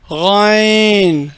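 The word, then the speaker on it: غ: இதான் கைன். கைன் லைட்டாக உச்சரிக்கணும்.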